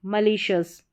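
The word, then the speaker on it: malicious: फिर यहां पर है मली एम ए एल आई मशस मलीशियस मलीशियस तो इस तरीके से यहां पर देखें कि जो उच्चारण है वो दिया गया है सभी हिंदी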